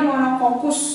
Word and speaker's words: monococcus: bulat cuman satu bulatannya namanya monococcus dibacanya monokokus Ya monococcus tapi monokokus kalau yang buletannya dua